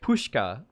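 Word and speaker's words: Puszcza: how to say pushka so it's literally just pushka puska visa pushka it's so much easier to pronounce than what i was saying pushka biovizda has become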